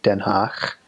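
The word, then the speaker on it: Den Haag: sound so like den ha H a AG den hawk or clowning in Gron I and G en make sure I spell that right clowning in it doesn't have to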